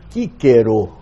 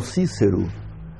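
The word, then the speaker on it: Cicero: prova Cabal de que o c inicial em latim tinha sempre o som duro equivalente a k Portanto o nome daquele grande orador e Pensador Latino Marco tlio Cícero em latim era Marcos tullios Kero e não Cícero e Kero por acaso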